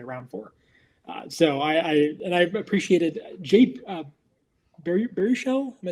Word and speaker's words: Baruchel: So I appreciated Baruchel. Am I saying it right? Baruchel? Yeah, Baruchel.